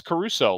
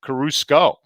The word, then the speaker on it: Caruso: shane didn't catch it i mispronounced alex caruso last week i said carrusco i think that's one